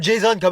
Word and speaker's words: Jason: Ouais, ça se prononce plutôt Jason comme à l'américaine.